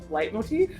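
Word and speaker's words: leitmotif: tend to really really like the use of light Motif hopefully that's how you say that that is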